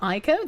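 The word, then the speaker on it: Ico: How silly of me thinking that I could survive what Japan could not load my file you It's pronounced Ieko.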